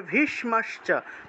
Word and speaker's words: ভীষ্ম: ওয়ান উচ্চারণ হবে ভবান ভীষ্মস ভীষ্ম মূর্ধন্য স তাহলে ভীষ্ম জিউভা উল্টিয়ে স উচ্চারণ করতে হয় মূর্ধন্য স্ব